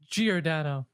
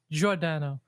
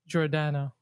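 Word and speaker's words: Giordano: The American way is Gordano. The Italian way is Jordano. So technically because there's no G in well there's a G, but in Italian the G is pronounced J.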